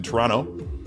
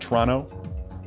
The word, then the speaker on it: Toronto: He's in Toronto. Did I say that right? The T is silent. The second T is silent. Is the first O silent? Because I've heard it pronounced Toronto. Like Tron O.